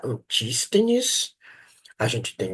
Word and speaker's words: Antístenes: Então, a gente tem alguns eh filósofos eh do cinismo que a gente chama eh que foram ah antines, acho que é assim que pode pronunciar, antístenes.